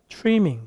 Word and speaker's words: trimming: R 발음 앞에 있는 T는 거의 요즘은 추라고 많이 발음을 해요. 그래서 trimming보다는 뭐라고 한다고요? trimming 그렇게 얘기합니다.